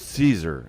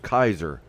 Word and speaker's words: Caesar: the Latin speakers well it wasn't pronounced Caesar it was pronounced Kaiser hold on are you sure it wasn't pronounced keer how do we know